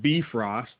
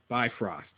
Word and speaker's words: Bifrost: first let's talk about that some pronounce it be frost some pronounce it bifrost or bifrost really quick uh and I'm going with bifrost which may not sound different to some of